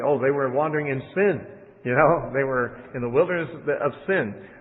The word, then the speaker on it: Sin: It's probably etymologically related to the word Sinai. And so it might be pronounced sign. It looks like we'd pronounce it sin. I have the habit of pronouncing it sin because it looks like our word sin.